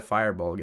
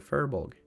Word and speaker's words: furbolg: it's furbolg isn't it it's not a firebug it's a fur bog oh the furbolgs are